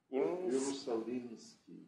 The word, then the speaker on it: Ierusalimschy: It's Ierusalimschy or Ierusalimschy? With an M, like Maria. All sorts. In Russian, it would be also with M. Oh, it's not Inski? Ierusalimschy.